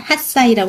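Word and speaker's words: 八歳: 하치가 8이지만 핫사이라고 하시면 좋을 것 같고요.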